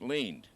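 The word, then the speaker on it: Lind: like last night instead it's l-i-n-d and it's pronounced leaned and now you never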